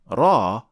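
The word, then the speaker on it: ر: opening than lamb and we pronounce ra from behind the noon so raw is closer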